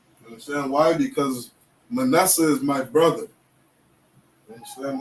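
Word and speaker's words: מנשה: Because Manasseh is my brother.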